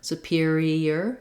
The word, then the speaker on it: superior: superior um so superior the pure syllable of stressed has the clear vowel then my eye does say e and my o r says er in this word as i go from e to er superior superior i do have a little gliding yes sound that comes in